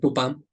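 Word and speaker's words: Tupã: en el idioma guaraní tu pan si está mal mi pronuncia y hay algún paraguayo por favor me corrigen pero es tupam tupam es Es el Dios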